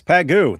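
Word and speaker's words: Pageau: Jonathan Peugeot is how it is pronounced. I don't take orders from you. Ayub at the dark. It's Pagoo.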